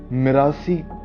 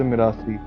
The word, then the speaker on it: मिरासी: अभी मिरासी कौन होता है, हु आर द मिरासी? अभी जैसे नॉर्मली क्या होता है कि एक पंजाबी हम उसमें घरों में देखते हैं कि मिरासी नॉर्मली प्रोनाउंस एज मरासी।